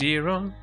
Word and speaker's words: gyro: I already I already did the gyro the the gyro. I'm going to get a gyro. Although it's technically pronounced girro, but I'm still going to go a gyro.